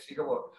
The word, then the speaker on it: Siga Wot: Am I pronouncing that right? Okay, Siga Wot.